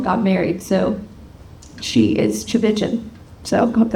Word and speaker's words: Tchividjian: lot of continents but it starts with a t c h the t is silent it's starts with a CH like church cha and it runs